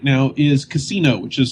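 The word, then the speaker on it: Cassino: played a whole lot of right now is casino which is spelled CA SS Ino which is just a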